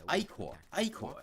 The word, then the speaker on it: Ichor: No, that's not how that word is pronounced. Very good at dealing damage. Stop. Ichor.